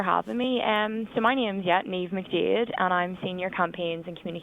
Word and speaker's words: Niamh: Am I pronouncing that right? Yeah, it's Niamh. It's a difficult one to pronounce. No, fantastic. Niamh. I thought Neil. Oh. No, Niamh. Fantastic.